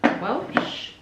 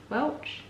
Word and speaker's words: Welch: um they are from Robert Welsh Welch Welsh I think she said to pronounce it um here based in